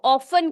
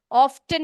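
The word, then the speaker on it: often: ही ऑफन ही ऑफन देखो बेटे, यहाँ पर टी जो है वो साइलेंट है। ठीक है, इसको ऑफन कहेंगे हम लोग, ऑफ्टन नहीं बोलेंगे।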